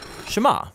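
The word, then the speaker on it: שמע: is hear or listen which in hebrew is pronounced shema that's where the prayer gets its name now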